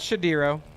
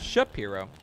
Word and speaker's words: Shapiro: Miller all right Matt Shapiro in the right hand lane not shadiro as it's spelled on my prompter as Matt ship hero because the wife's here